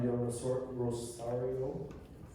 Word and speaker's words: Del Rosario: Okay, next question for Del Rosario.